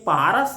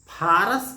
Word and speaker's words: फारस: अरबों की वर्णमाला में अरबी वर्णमाला में कहते हैं प का उच्चारण ठीक से नहीं होता और उसको फ की तरह उन लोग उच्चारण करते हैं। इसलिए पारस ना कहकर अरबी लोग फारस कहने लगे।